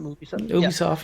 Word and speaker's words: Ubisoft: That's how you pronounce it? Ubisoft, yeah.